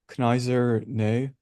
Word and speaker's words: Kneser: Yeah, so another popular one is called I might get the pronunciation wrong, but Kneser, like Kneser.